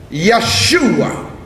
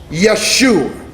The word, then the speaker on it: Yeshua: So actually the word Jesus was pronounced Yeshua. Are y'all following me? In the Hebrew it's pronounced Yeshua.